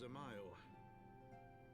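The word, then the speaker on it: Dzemael: Alas, he is also a son of House Zamail. Oh, so the D is silent.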